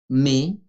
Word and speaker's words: mai: planet mars, abril, abril, mai, como cuando decimos pero, mai, pero sin S, mai.